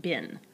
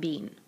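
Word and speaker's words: been: past participle and remember the past participles pronounced bin not being because the present participle is being two syllables even with to do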